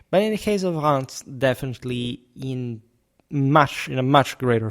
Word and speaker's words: Reims: Hello everyone, today we talk about medieval Reims. There are different ways we would think it could be pronounced, Reims, Rem, whatever, but it's actually Reims.